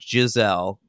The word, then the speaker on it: Giselle: now lives in Mexico, named Giselle. Key syllable, the first one.